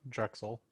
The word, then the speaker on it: Drexel: it right drug cell philadelphia anybody did that pronounce this crack drug cell university right yeah drexel drugstore university in florida philadelphia okay all right